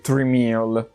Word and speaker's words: Tramiel: che fu portato Jack tramiel la pronuncia esatta sarebbe trimal però siccome non voglio diventa scemo con la muta eccetera per tutto il video lo chiamerò Jack tramiel Ok Abbiate pazienza perché